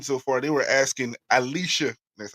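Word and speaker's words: Allisha: One of the greatest things I've seen so far, they were asking Alicia, that's how you pronounce it, Gray, because she won the skills contest and the 3-point last year.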